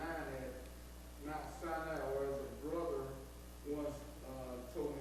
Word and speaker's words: Sinai: And the second time was in Numbers chapter 9 at Mount Sinai, where the brother once told me it's pronounced Mount Sinai, but on that occasion, in Numbers chapter 9,